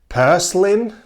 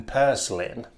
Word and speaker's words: purslane: Yes, we also have a plant like purslane, I believe, is the way to pronounce this name.